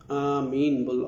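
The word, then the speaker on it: آمين: করো আর আমিন আমিন এটা টেনে আমন আমিন বলা এটা আমি মিন না মিমে তাসদিদ বা এটা এরকম কিছু না আমিন বলতে হবে এটাই পরিশুদ্ধ যেটা উচ্চারণ এবার মানওয়াফাকা শব্দটা এসেছে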